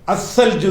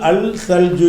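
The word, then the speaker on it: الثلج: மாதிரி சல்ஜு சல்ஜுங்கிற வார்த்தை இதை அல் சேர்க்கிறீங்க சேர்த்தா அல் காலியாயிரும் அஸ்ஸல்ஜு தான் அல் அல் சல்ஜு என்று எழுதி இருக்கும் நம்ம எப்படி சொல்ல மாட்டோம் அல் சல்ஜுன்னு சொல்லுவோம் அசல்ஜுன்னு சொல்லுவோம் உங்களுக்கு அந்த ஃபத்ஹு கசர்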